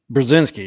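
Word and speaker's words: Brzezinski: Carter's National Security advisor Z I can't pronounce oh is Big binski brazinski yeah that's it he was one of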